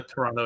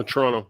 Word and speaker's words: Toronto: uh he's in the toronto area so oh sorry i'm not supposed to pronounce the second t in that toronto right no no toronto that's good all right well this